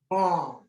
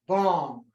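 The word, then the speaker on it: bam: tibetans pronounce this symbol bomb it's a sanskrit letter b-a-m but in our language it's bomb and no matter how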